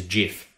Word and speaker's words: GIF: No, if it was GIF, would be spelt with a J, not a G, as in GIF, the cleaning product. GIF, because you fall down into a G noise. G, you slide down, so it is GIF.